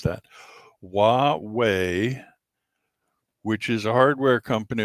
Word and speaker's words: Huawei: But Windows, Android, and Linux are all being dumped by the Hawaii Huawei. I have to constantly remind myself how to pronounce that. Huawei, which is a hardware company over there in